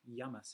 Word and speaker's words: llamas: because of obviously jalapeno, and LL is pronounced as a Y, I believe. So you've got como te llamas. Llamas is spelled L-L-A-M-A-S. It's pronounced llamas.